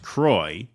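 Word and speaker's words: Croix: as a half Cruisin it's pronounced Croy rhyming with Roy yeah that's what I thought I thought it was sing Cy St Croy so it is St Croy so it's not qua all right got to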